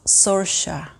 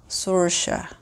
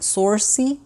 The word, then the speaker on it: Saoirse: is a name that the spelling and pronunciation are totally different it's pronounce Saoirse Saoirse I had to look it up because my husband said some said to me something totally different at first he thought he was like sorce which I like also